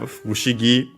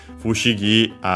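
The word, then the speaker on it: ふしぎ: Fushigi means strange, curious, mysterious. Again, actually, contraction of Fukashigi. That one accent on the ka. This one unaccented, so be careful.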